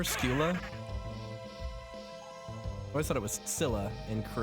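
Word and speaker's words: Scylla: skill tail skill's tail in Greek it's skila gotcha okay so skila and caribdis in English we typically say Sila but you know obviously English speaking foreign languages is is ridiculous so all right we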